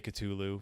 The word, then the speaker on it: Cthulhu: yeah Cthulhu katulu love Lovecraft himself said when someone out he he answered the question how do you pronounce this name several times in his letters and gave like detailed descriptions and the answer is basically you can't this is a name